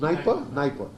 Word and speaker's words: Dnieper: अच्छा, ये Dnieper river है, Dnieper is pronounced Dnieper, D silent, so it's pronounced like this.